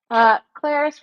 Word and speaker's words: Clarice: If this Clarice rhymes with Paris, she'll get it.